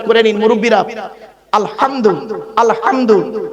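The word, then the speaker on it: الحمد: করে নিন মুরুব্বিরা আলহামদু আলহামদু এ গলার ভেতর থেকে হেটা উচ্চারণ করবেন আলহামদু আলহামদুলিল্লাহ মানে হচ্ছে সমস্ত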